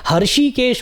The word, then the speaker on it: हृषिकेश: तरह से यहां पर ऋषि केश हल्का से हा का साउंड आता है हृषिकेश बोलना या हरिकेश बोलना